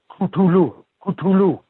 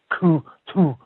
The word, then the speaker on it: Cthulhu: can be pronounced a number of ways pootaroo kulu kulu or but most people pronounce it Sulu okay thanks for doing up but but Lovecraft himself said you should pronounce it like ku - ku hard on that yeah that's right who the